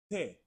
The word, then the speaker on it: te: Te, te.